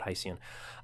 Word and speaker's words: Hycean: they've just called it Hycean. It rhymes with ocean, but Hycean.